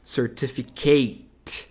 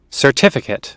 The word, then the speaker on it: certificate: Provavelmente você deveria pronunciar essa palavra como certificate. Não é Kate. É kit. Tá, ó. Certificate.